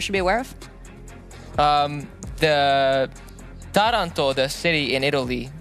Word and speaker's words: Taranto: The Taranto, the city in Italy, the stress is on the first syllable.